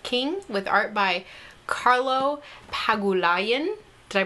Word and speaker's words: Pagulayan: This is written by Jeff King with art by Carlo Pagulayan. Did I pronounce that right? That sounds right to me, yeah. Pagulayan.